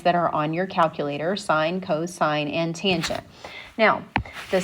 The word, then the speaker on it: sine: It is pronounced sine, not sin, because it is actually SINE.